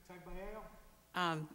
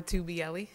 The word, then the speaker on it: Tubielli: Tagbiello? It's Tubielli. The G is silent, but it's, you know